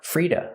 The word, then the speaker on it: free to: free to call me how do I pronounce it feel fra we hear to pronounced as du Freda Freda because the t is between vowels it changes to a fast D and the vowel is relaxed uhuh Freda feel free